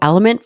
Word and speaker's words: LMNT: thank you to element for sponsoring this episode of the show it is spelled lmnt and pronounced element you guys have heard